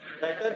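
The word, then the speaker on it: debtor: goods is called as, अब ये लफ्ज है डेप्टर, लेकिन इसमें बी साइलेंट है, लिखते हुए बी आएगा लेकिन बोलते हुए नहीं आएगा। क्या वर्ड बोला मैंने? 3 दफा बोल रहा, क्या बोला? डेटर डेटर डेटर डेटर, एक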